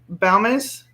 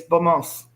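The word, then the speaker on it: Balmas: Okay, in the States, it's pronounced Balmus, but over in Italy, it's Balmos.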